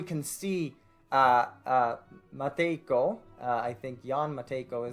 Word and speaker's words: Jan Matejko: He's looking to the stars from his tower, and here we can see Matejko, I think Jan Matejko is, I believe, how that will be pronounced.